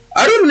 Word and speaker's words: Arun: Arun Leora, pleasure to meet you. How do you spell that? A-R-U-N. What? A-R-U-N. Thank you, Aaron. Weird way of saying Aaron, but you know, Aaron.